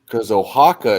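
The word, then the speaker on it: Oaxaca: say that a Hua I think that's how you say an X and uh in Spanish because ohaka is spelled o a x a CA that sounds well oh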